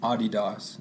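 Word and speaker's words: Adidas: yeah I got some Audie Docs as it is pronounced in Germany it's a German company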